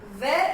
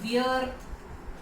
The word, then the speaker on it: wear: नाउ the next is वेयर एंड वेयर, हम इसे pronounce करते हैं वियर, बड़े लोग इंडिया में इसे वियर प्रोनाउंस करते हैं, बट इज वेयर एंड वेयर।